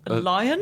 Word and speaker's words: lion: could do one um how do you pronounce the word which refers to a large cat with a man uh lion lion no not Posh not Posh oh no lion oh you're pretty I'm putting it on I'm putting it it rhymes with barn apparently yeah how do